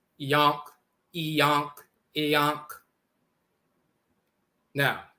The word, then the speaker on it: Ankh: derived from Ankh, and the Ankh is pronounced Iyonk, Iyonk, like in the Coptic dialect. Instead of Ankh, it's Iyonk, Yonk.